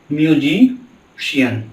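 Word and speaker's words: musician: और लास्ट अगर एग्जाम्पल की बात करें तो हम लिखे हैं म्यूजिशियन। क्या लिखे हैं? म्यूजिशियन। आप यहाँ भी बड़े स का उच्चारण देख सकते हैं।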